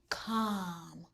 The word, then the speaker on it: calm: LM says The L is silent. Calm.